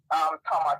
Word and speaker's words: Thomas: I learned from you that you don't pronounce the TH in like Thomas or Thompson or whatever.